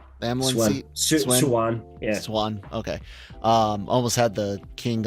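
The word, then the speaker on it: Siuan: The Swen was. Did I say her name right? Amlin Swan. Yeah. Swan.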